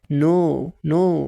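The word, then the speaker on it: know: بيكون سايلنت بيفور الان يعني حرف الكي ده بيبقى ما بيتنطقش قبل حرف الان لو جه بعده حرف ان يعني هو لو كي جه قبل الان ما بيتنطقش شبه كلمه نو بتقول ان على طول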